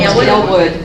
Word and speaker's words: Aylwood: I'm always saying her name wrong. Aylwood. I always want to say Ayleswood.